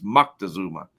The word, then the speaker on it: Moctezuma: There's no N. It's a C, so it's Moctezuma.